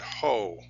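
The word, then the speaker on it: haut: French there's this word ho it's pronounced ho o uh the T at the end is silent and it means high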